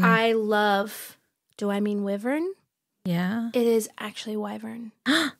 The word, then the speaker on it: wyvern: the narrator who I love do I mean wyvern yeah it is actually wyvern she pronounced it pronunciates it the wrong way the